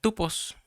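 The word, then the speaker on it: τύπος: el número strong 5179 que se pronuncia tupos, que quiere decir marca, figura o modelo a seguir.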